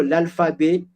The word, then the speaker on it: alphabet: I have also l'alphabet. I have T at the end, but I didn't pronounce that T.